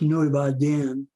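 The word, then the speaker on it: Núi Bà Đen: a mountain that's called uh black virgin mountain pronounced nueva den in vietnamese and it was a radio relay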